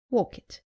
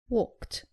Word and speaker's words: walked: Saying walk it. It is walked.